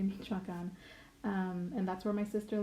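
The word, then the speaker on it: Michoacán: traveled to Michoacan but my brother pronounces it as Michigan but it's actually meet shotgun and that's where my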